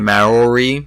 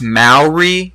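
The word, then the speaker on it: Māori: know if you would be interested in a Mallory mask from his people I am I think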